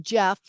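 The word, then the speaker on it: Geoff: g e o f f but it's it's pronounced Jeff castucci and it's it's c s p l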